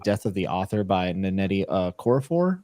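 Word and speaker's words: Nnedi Okorafor: And then on top of that, I also started Death of the Author by Netti uh Coraphor, I believe is how you say her name.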